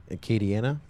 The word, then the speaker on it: Acadiana: Acadiana? Is that how you say it? Acadiana? Yeah, I knew I said it right. It's Chris Thomas who messes it up. I say it right.